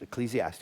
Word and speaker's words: Ecclesiastes: I promise I promise if we will learn the lesson of Ecclesiastes, that's the way that's pronounced. Ecclesiastes.